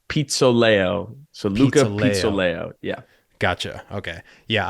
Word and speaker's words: Pizzoleo: your last name first it's pronounced Pizza Leo layout yeah gotcha okay